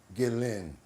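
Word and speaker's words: Ghislaine: This is how you say my name. Gillin.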